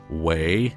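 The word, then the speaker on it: weigh: the word out well you come across a word like way w-e-i-g-h just you try and sound that out okay and there's tons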